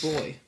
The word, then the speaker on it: buoy: the fanny and they they pronounce buoy as boy boy cuz that's how it's spelled boy you got a